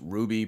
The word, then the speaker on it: RWBY: ps4 and switch rwby some people tell me that's pronounced ruby but i've literally never